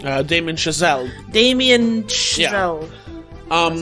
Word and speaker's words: Damien Chazelle: Damien Chazelle.